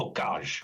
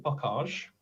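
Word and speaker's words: bocage: little pinky stuck up that should be like a bookage or something like that so there we are from now on I am going to call it buckage okay I probably won't do the oh the bowl because that sounds too French it's fuckage okay that's how I pronounce it in future and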